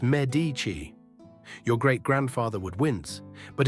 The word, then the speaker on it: Medici: You say Medici. In Florence, it's Medici.